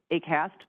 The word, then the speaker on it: HAQAST: and the T, but the easiest way we found to pronounce it is really just to think of it like HAQAST, but with hay.